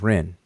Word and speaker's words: rn: Well, the Egyptian word is Ren, R-N, Ren, and we pronounce it as Ren.